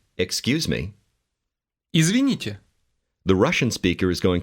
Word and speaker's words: Извините: Извините. Did you hear the "yeah" sound at the end of that word?